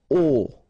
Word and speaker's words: aux: Okay, so you can see that here you combine a plus les, and you will get this AUX, okay, and then phonetically you produce it or you pronounce it O.